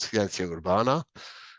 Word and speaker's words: Ciencia Urbana: The band is called Ciencia Urbana. That's the Spanish pronunciation.